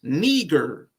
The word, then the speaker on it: Niger: But Niger or Niger, because matter of fact, if you go to the Strong's Concordance, which they have like a dude that give you the pronunciation, it's Niger. Niger is how he says it.